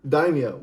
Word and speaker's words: daimyo: These dynamos That's not the name, first of all. It's you said it right the first time. What did I say? Daimyo? Daimyo.